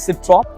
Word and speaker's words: Citroën: सिट्रॉन बोलते हैं कि सिट्रॉ बोलते हैं? Citroën. I think Because it's a French में N pronounce नहीं तो इट्स अ होता। सिट्रॉ।